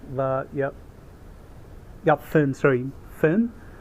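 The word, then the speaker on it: Fern: Fin, sorry, Fin. Yeah, because in the Chinese wording is pronounced as Feilun, so I thought it's going to be as Freeran, but it's more pronounced towards Fin, F-E-R-N.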